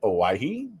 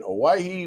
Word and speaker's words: Hawaii: spending some time there, the H is silent, I'm told, by the Hawaiians that live there. So spent some time in Hawaii with 1,700-ish other entrepreneurs from 56 different countries.